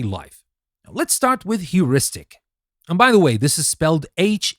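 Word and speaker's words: heuristic: Now, let's start with huristic. And by the way, this is spelled h eu r i s t i c.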